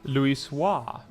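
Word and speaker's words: Louisoix: Um Tony Tony says, "How do you pronounce the name of your world?" Luis Swahis.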